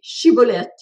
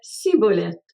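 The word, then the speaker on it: Schibboleth: » Ils lui disaient alors « Eh bien, dis Chiboleth. » Et il disait Ciboleth, car il ne pouvait pas bien prononcer.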